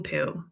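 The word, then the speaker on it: Pu: chapter one meet Geraldine Pooh her last name rhymes with blue and chew Geraldine loves her family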